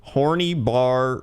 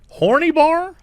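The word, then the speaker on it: Horný Bar: should post it again it's pronounced horny with a rolling R and a long e sound for the Y and bar again with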